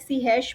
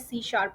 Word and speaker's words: C#: what is सी शप it might look like सी हैश बट इट is pronounced as सी शार्प okay सी शार्प इट